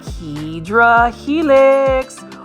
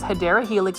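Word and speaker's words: Hedera helix: are a spidermite magnet they're kind of like hedra helix or the correct way to say is hadera helix or English ivy it's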